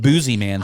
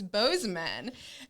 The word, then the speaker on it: Bozeman: i'm just like me i think boozy man sounds cooler i don't know if that's really how you say it and then cole's like no i'm from there it's it's bozeman and the next thing